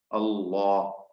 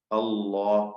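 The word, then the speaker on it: الله: ല്ല എന്ന് തന്നെ പറയാം വരാറുള്ളത് ലാമിന് തഫ്ഹീം കൊടുക്കുമ്പോൾ മാത്രമാണ് ലഫുൽ ജലാല അല്ലാഹുവിൻറെ മഹത്വത്തിന്റെ നാമം ഉച്ചരിക്കുമ്പോൾ ഇസ്മുൽ ജലാല എന്നൊക്കെയാണ് ആ പദത്തിന് പേര് പറയും അള്ളാ അള്ളാ എന്ന ആ പദം ഉച്ചരിക്കുമ്പോൾ അതിൽ എന്തു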